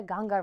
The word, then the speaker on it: Ganga: They call it the Ganga River, even though it looks like it's spelled the Ganges.